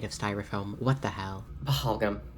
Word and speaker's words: Pahalgam: Pahalgam.